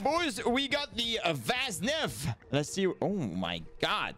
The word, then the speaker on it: Vaznev: By the way, it's pronounced Vaznev. All right, lads, don't make the mistake. Vaznev.